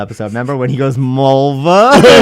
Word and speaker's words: Mulva: Remember when he goes Mulva? She's like it rhymes with the body part. He's like Mulva.